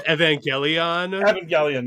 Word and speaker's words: Evangelion: ] it up that's it i believe it's evangelion yep that's it so tape up your glasses